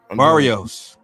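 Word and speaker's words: Barrios: How do you pronounce his name? I forgot. Barios.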